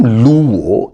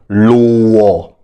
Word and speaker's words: Luo: know that the name luo is actually mispronounced the original pronunciation for the name was Lua which meant follower or